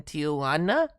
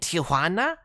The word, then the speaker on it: Tijuana: Uh, the airplane made a Simpsons reference with Crusty in Tijuana. Oh, no. Don't pronounce it the Gringo way. With Crusty and Tijuana.